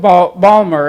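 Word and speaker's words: Baltimore: uh med school in balmer and for those who are from there know that the t is silent um then recently as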